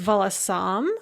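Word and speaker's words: волосам: on the second syllable the data of plural is volasam with the stress on the third syllable accusative is going to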